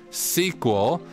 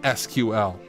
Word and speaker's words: SQL: The name sequel, that was the name of the programming language, was later changed to SQL, dropping the vowels, because sequel was a trademark of blah blah blah. So, the language was called sequel. It's not SQL.